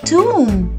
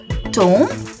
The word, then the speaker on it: tomb: the letter b where the b will be silent is a tomb but in this word the o will be pronounced as a ooh so we call it a tomb not a tome not a tome it's a tomb a tomb is usually